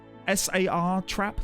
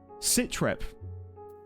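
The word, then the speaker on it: satrap: How do you pronounce it again? Is it sat trap? S trap. S A R trap. Like Sar trap. Citrep. Don't think it's Citrep. Sar trap. The latter.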